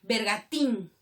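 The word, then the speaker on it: bergantín: Bergatín. ¿Qué tipo de palabra es bergatín? Tiene tilde todavía. Aguda. Termina en N con tilde.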